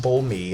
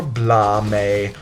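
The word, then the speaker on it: Bolme: C bul me and yes it is pronounced bul me it is not pronounced bul or blame or bloom or whatever or or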